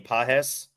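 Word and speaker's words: Pages: How do you pronounce his name? Pajes.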